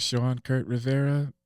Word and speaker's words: Shawn Rivera: You could find me at Shawn Rivera, like it sounds, is how it's spelled.